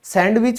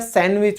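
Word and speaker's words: sandwich: फिर हम देखो, सैंडविच कभी नहीं होता है, सैंडविच होता है।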